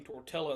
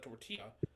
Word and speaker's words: tortilla: in my head saying somebody saying torella instead of tortilla and you Chinese restaurant